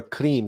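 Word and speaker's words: krim: in your Consciousness so you pronounce the Mantra cre k r i m cre you want to extend the r and roll the r we can't roll our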